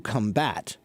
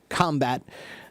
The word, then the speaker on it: combat: but the combat uh so when you when you say certain words if you put the stress on the first word or first syllable it means it's a noun if you put the stress on the second syllable it changes to a verb not all words but